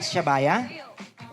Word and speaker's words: Shabaya: And Shabaya, am I right? Am I saying it right, Shabaya? Tama. Is that your name, Shabaya?